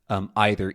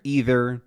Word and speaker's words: either: of these words, but there are a few notable ones, like mantra, mantra, either, either, then neither, neither, aunt, aunt. All of these are totally acceptable pronunciations in pretty much any part of the US.